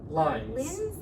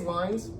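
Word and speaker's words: Lynds: If we're wrong about the pronunciation, I know that I think a daughter is on Facebook a lot and has some memories, so yeah. I think it's Lines.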